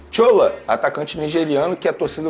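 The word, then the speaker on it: Shola: Quem é o Chola? É Chola mesmo que fala? Olha, eu falo porque, primeiro, ele é nigeriano, o nome dele é assim que se escreve, S-H-O-L-A. Aí eu pronuncio dessa maneira.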